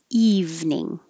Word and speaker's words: evening: to vermont vermont and evening is just two syllables evening weekend so the i